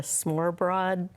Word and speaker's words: smørrebrød: And my friend had one of the smørrebrød open-faced sandwiches. Yes, yes, that's how you pronounce it, actually.